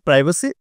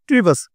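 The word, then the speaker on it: privacy: এখানে আই উচ্চারণটা আই, প্রি বা সি। যেমন ধরেন everybody has some প্রাইভেসি। American বলা হচ্ছে প্রাইভেসি, ব্রিটিশে বলা হচ্ছে প্রিভাসি।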